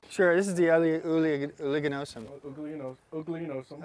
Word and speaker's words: uliginosum: Oligonosum. Oh, it's oligonosum.